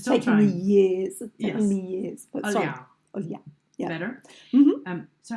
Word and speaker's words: Olhão: But Olhão.